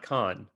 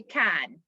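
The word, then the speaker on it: Cannes: but i'm saying but it's can not con it's cad in french we'll say can ah can ah okay i'm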